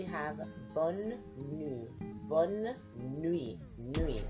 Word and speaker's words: nuit: Nuit, like N-W-E-E. N-W-E-E, that's how it's pronounced.